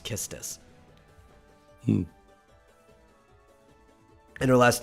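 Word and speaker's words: Quistis: tisu or like kistis because she's a kiss tease so her name is probably supposed to be pronounced kistus and her last name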